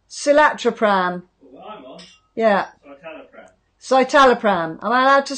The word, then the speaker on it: Citalopram: Carol, I got on well with Silatrapram. Is that how you say it? What? Silatrapram. Well, I'm on. Yeah. Citalopram.